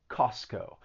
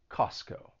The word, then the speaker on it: Costco: or syllables are removed so in this case the t is removed you're not gonna you're not gonna pronounce that t costco and the reason for that is that when the t comes between two consonant sounds it it may allied and it just gets removed costco costco another example